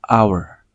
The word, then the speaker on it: hour: Tapi di sini menggunakan N karena pengucapan hour itu menggunakan A di awal, hour, bukan hour.